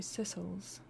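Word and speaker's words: Sicels: Primary pronunciation sickles. Secondary sisles.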